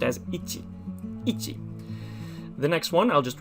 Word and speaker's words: 一: and it's just one horizontal stroke usually it's pronounced as ichi the next one i'll just write it underneath